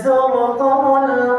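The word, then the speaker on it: زُرْتُمُ: Makanya di surah At-Takatsur, alhaakumut takatsur hatta zurtumul maqabir. Hatta zurtumul maqabir, sampai dia masuk ke lubang kubur. Bukan ziarah. Zur itu, makanya jangan salah baca. Kalau bacanya hatta zurtumul maqabir, itu salah baca namanya.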